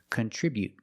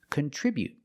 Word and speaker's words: contribute: But the stop t is more natural and more common. Contribute. Just stop the air with the tongue and don't release the tea. Contribute. Remember to put the stress on the second syllable.